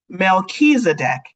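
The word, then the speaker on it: Melchizedek: go to Chipotle okay melchisedek is how you say it melchisedec is a high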